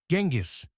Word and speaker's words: Genghis: But if you traveled back to 1227 and shouted Genghis, nobody would know who you were talking about. In the West, we pronounce it with a soft G or a J sound.